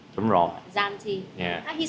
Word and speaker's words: Zante: Okay, so Zante is the z sound. Janti. No, z. Zanti. Đúng rồi. Zanti.